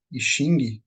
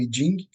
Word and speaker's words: I Ching: Então vamos lá né quando a gente fala de ising ou iding né que é a pronúncia correta né a gente sempre